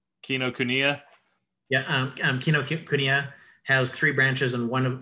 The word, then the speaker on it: Kinokuniya: say that kinoku kino kunia yeah um um kinokuniya has three branches and one one of them